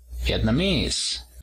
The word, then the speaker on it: Vietnamese: Para decir vietnamita, decimos Vietnamese, el acento en la tercera sílaba.